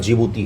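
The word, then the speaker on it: Djibouti: ऐसे है यहीं पर जिबूती है है ना इसका स्पेलिंग डी से शुरू होता है डी जिबूती जिबूती बोलते हैं डी साइलेंट है यहां पर ओके ये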